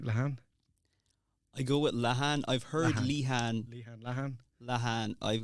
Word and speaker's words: Lehane: I go with Lehane. I've heard Lehane. Lehane. I've got cousins in America and they pronounce it Lehane.